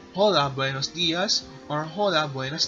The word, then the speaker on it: Hola: Now, you can say Hola, buenos dias or Hola, buenas tardes. The H is silent.